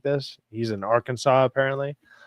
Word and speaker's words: Arkansas: He's in Arkansas, apparently. Or Kansas, how to say it. It's Arkansas.